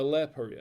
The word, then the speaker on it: Le Paria: No, it's a Le Paria. Le Paria. That's what it's pronounced in French.